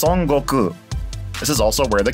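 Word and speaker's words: 孫悟空: beginning of time in Japanese his name is pronounced sangoku this is also where the character Goku in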